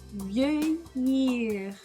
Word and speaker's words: vieillir: Que toda vez que aparecer um L perto de um I, você não pronuncia o L, você arrasta o I. Fica um som de assim, um I, vieillir, certo? Vieillir, certo? Você vai arrastar o som do I.